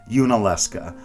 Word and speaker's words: Yunaleska: Yunaleska, Yunaleska.